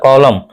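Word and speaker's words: column: निंदा करना होता है उसी तरह कॉलम कॉलम होता है कॉलमन नहीं होता है एन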